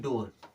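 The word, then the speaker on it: door: D double O आर इसे हम पढ़ते हैं डोर क्या पढ़ते हैं डोर यहां पर भी बड़ा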